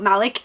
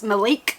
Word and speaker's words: Malik: It is not Malik, it's Malik. So, apologies, I'll be saying Malik from now on.